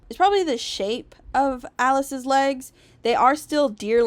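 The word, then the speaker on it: Alas: It's pronounced Alice, but it is spelled A-L-A-S, which is basically just the first few letters of Alistair's name.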